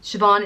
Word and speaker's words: Siobhan: name so that's Mairead the next name is Siobhan and similar to Sinead Siobhan is derived from the name Jane's so they both mean God is gracious it's pronounced Vaughan ship on Siobhan is spelled s io b h KN on it